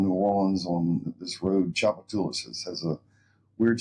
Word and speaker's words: Tchoupitoulas: this location Uptown New Orleans on this road chapat tulis has a weird spelling and a funny way to pronounce it but U good location and had